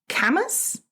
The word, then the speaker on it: Camas: But anyway, we are going to Camas, así se llama. Camas, como quemas, así se escribe.